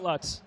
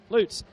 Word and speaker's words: Lutz: Not Lutz, Lutz.